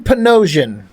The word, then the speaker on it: Panosian: But um Dan Panosian rhymes with Bedrosian.